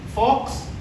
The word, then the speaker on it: Volks: Fox, yung V is pronounced as F.